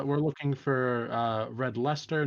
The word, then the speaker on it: Leicester: looking for uh red lester not red leicester uh for future reference but fine um red